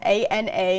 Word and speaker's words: Ana: Yes, A-N-A, and the pronunciation there is Ana, and it's kind of spinning out near Bermuda.